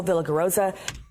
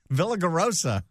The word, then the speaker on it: Villaraigosa: I don't think she pronounced either name correctly. Antonio Villaraigosa. Villaraigosa. Close enough.